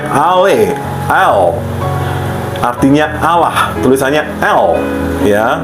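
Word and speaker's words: אֵל: Ayat berikutnya adalah El ya, pelafalannya Ale, El.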